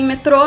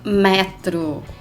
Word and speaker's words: metro: assim e já que eu falei metrô em portugal também tem uma se pronuncia metro e ele não dá